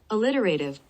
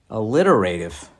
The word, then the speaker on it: alliterative: you mean alliteration oh a litter a liter i can't say it alliterative i gotta look that up and figure out how to say it a literal a-l-l-i-t-e-r-a-t-i-v pronunciation i gotta hear how do you say this alliterative alliterative well there's your [ __